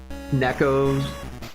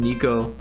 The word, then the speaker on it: Neco: cheap inn like uh Neco's house. I called him Niko, but I think it I think Neco is is how it's pronounced.